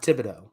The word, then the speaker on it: Thibodeaux: it so is it thibodeau or thibodeau uh thibodeaux davido so the h is silent yes okay that that throws me off but all right got it now thibodeaux uh the biggest concern